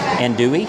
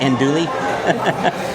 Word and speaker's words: andouille: Whenever we go to Dollywood, we always get amused at how many people improperly pronounce andouille. They always call it andouille. Or andouille. Andouille. It's very easy to mispronounce, but here we go.